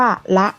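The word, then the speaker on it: ฯลฯ: กัน อีก นะ คะ การ อ่าน เครื่อง หมาย ไปยาล ใหญ่ นี้ ให้ อ่าน ว่า ละ ค่ะ ดู ตัว อย่าง นะ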